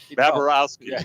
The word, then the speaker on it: Bobrovsky: always, messed up Bobrovsky, right? Yeah, Bobrovsky. Yeah. He always puts an extra syllable in there.